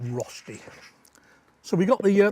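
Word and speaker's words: Rösti: this is the Swiss Rusty rushy Rusty Roy Roy lots of different ways of pronouncing it depends which language you're in we're going to call it rosty so we got the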